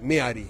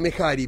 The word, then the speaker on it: Mehari: Se escribe con H, es Meari, pero bueno, vulgarmente dicen Mehari, pero es Meari, la palabra correcta es Meari.